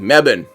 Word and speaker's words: Melbourne: Uh I know it's like mebban. It's just like one. It's like two syllables or something for you guys.